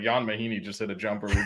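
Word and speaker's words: Ian Mahinmi: Jan Mahini. For- Spurs and born in Born Europe. in Europe. It's How do you even- it's spelled like Ian, IAN, but it's pronounced Jan.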